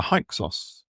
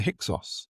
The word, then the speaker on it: Hyksos: It's known as the Hyksos, or in America, they call them the Hyksos Exodus. And Josephus gives both pronunciations, so they're both correct.